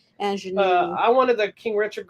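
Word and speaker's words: Aunjanue: of the Dog, and Anjua Ellis for King Richard. Anjanou, let me say her name right. I apologize. Anjanou.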